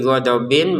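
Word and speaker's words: غَضَب: Nah, huruf ba-nya ini dipantulkan. Kalau yang tadi dot ya tidak dipantulkan. Fadli, kalau ba-nya dipantulkan. Ghadab harus ada ya, jangan sekedar ghadab, ghadab pantulannya nggak ada, itu salah. Ghadab.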